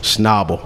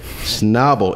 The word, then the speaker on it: Schnabel: me with the company name how do you pronounce that schnabel okay schnabel engineering thank you guys so much for joining